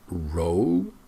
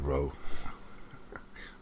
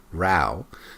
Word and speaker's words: row: I think she means row. Not row. Row.